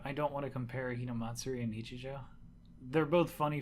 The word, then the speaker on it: Hinamatsuri: Isn't it Hinamatsuri? It's Hinamatsuri. I think I might have said it wrong. I think you both said it wrong. Yeah. What did I say? You said Hanamatsuri or Hanamitsuri or something.